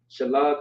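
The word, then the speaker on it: שלג: Shalag means snow in Hebrew. That's how you say it.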